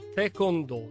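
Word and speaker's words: taekwondo: abbiamo annunciato si chiama si pronuncia te cono dal coreano Tae colpire col piede con pugno e do via lui è Mauro sarmiento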